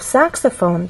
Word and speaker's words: saxophone: in the case of saxophone there are also three syllables but the stress syllable is the first one which means we have